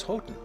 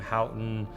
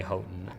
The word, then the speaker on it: Houghton: time, says their name is Houghton. We respect their wishes and say their name the way they would say it, even though, I know a lot of people around town say it in different ways. - How it became , I'm not really sure but it's definitely Houghton.